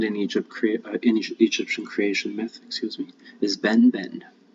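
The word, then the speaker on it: benben: And the primeval mound in Egyptian creation myth, is Ben Ben. It's pronounced Ben Ben.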